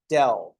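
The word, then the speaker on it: ∇: of f is to write an upside down Capital Delta and we pronounce that as Dell so we'll say D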